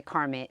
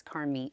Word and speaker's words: Carmit: Yeah, a lot of people say Carmit because it's spelled like that, but it's a Hebrew name, so it looks like Carmit, but it's Carmit.